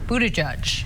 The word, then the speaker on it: Buttigieg: Mayor Pete's last name is pronounced Buttigieg.